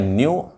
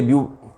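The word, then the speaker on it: ν: तो थोड़ा प्रोनाउंसिएशन में स्लाइट डिफरेंस है, एंड नॉर्मली इसके लिए म्यू प्रोनाउंस करते हुए आप लोग बहुत मिल जाएंगे। ध्यान रखें, इट इज़ न्यू, इट इज़ म्यू।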